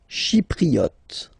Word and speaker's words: Chypriote: Chypriote. Remember this Y is pronounced like I.